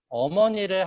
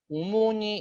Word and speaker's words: 어머니: 일단 여기 보시면 어머니를 학생들이 오모니 이렇게 발음했어요. 오모니.